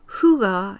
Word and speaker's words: Hygge: Hygge is how you pronounce the Danish word which is spelled Hygge.